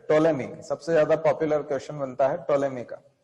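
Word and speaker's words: Ptolemy: टोलेमी सबसे ज्यादा popular question बनता है, टोलेमी का। टोलेमी क्या स्पेलिंग है टोलेमी की, बताओ। पी से शुरू होता है टोलेमी, याद रखो।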